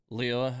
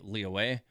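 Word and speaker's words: Liyue: of Leah Harbor uh she says Leo as opposed to like monstat and other characters when they say it they'll say Lee away um so she definitely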